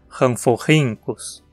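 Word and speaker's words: Rhamphorhynchus: As sílabas são ran, fo, rin, cus. Veja como aqui a penúltima sílaba, rin, termina com uma consoante, um N, o que a obriga a ganhar o acento. Dizemos ranforrincus.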